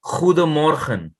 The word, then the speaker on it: Goedemorgen: So, accordingly, it's you already know O is U, right? So, they say good morning, they say Goedemorgen.